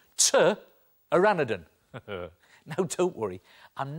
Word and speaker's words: pteranodon: Now, strangely, when it comes to spelling, pteranodon is spelt with a P. P is for pteranodon. OK, spelling lesson over. Because when it comes to drawing, T is for pteranodon. T-aranodon.